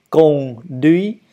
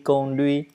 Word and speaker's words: conduit: Dans un verbe ou dans un mot conduit, il n'y a pas d'accent. Vous ne laissez pas stress. Un stress sur la première syllabe ou la deuxième syllabe, ce n'est pas la peine. Conduit, conduit, conduit, la même chose, hein, toujours la même chose.